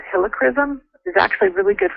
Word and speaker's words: Helichrysum: How do you pronounce the last one? Helichrysum is Helichrysum.